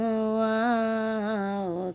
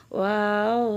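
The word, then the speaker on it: واو: ওয়াও তার নাম ওয়াও ওয়াও উচ্চারণ কেমন হবে ওয়াও দুই ঠোঁটের মাঝখানের ফাঁক থেকে আদায় হবে নইলে বা অক্ষর আদায় হয়ে পড়া হারাম হয়ে যাবে খাড়া বাঁকা চিহ্নের এই জায়গায় সাবধান হও বা অক্ষর আদায় হয়ে যেতে পারে ওয়া জবর ওয়া ওয়াও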